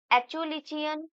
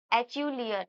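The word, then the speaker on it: Acheulean: और यहाँ से ये एचुलिचियन टूल ट्रेडिशन भी इम्पोर्टेंट है। ठीक है, ये आप लोग अपने हिसाब से प्रोनाउंस कीजिएगा। एचुलियन, मैं तो एचुलिचियन कह रही हूँ।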